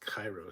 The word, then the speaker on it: KIRO: Media Group minus Seattle's KIRO 7 pronounced Cairo 7 back to the Cox